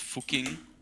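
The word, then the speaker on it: Fucking: It's actually pronounced fuking.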